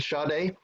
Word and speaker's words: Sade: Is it Sade? Do you Yeah, pronounce it? It is pronounced that way? yeah, like the singer.